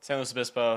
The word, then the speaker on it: San Luis Obispo: San Luis Obispo? San Luis Obispo, slow, yeah, whatever. Okay, slow. Slow's like the... Slow's like, it's what everyone calls it down there just because San Luis Obispo is a mouthful.